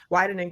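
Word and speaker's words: Wieden: Okay, Jordan Dinwiddie is a copywriter for, is it pronounced Whedon Kennedy? Whedon Kennedy, Portland? Wyden and Kennedy, Portland.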